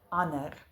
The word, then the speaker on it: ander: In words where there is a D that follows an N, we usually drop the D in our pronunciation. For instance, donderdag, sonder, ander.